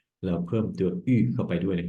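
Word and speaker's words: août: เตียม เดน นะ ครับ ก็ จะ ออก เสียง ว่า อุ นะ ครับ เดือน สิงหาคม สิงหาคม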